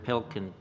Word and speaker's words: Pilkington: Pilkington. Thank you. It was perfectly pronounced.